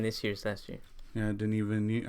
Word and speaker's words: Denis Villeneuve: to say his name I used to say Dennis V oh yeah because that's how you spell it but then I heard